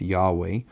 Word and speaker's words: Yahweh: of having god's name most scholars believe god's name was originally pronounced yahweh and if you read god's name as yahweh in these studies i